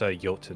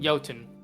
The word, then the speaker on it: Jotun: looks very old as jotun is sitting there this a clarification it's pronounced yoton yoton yeah um you do